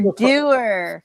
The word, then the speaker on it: Dower: to be a vain type who decides to spell his name Dower but say it Doer.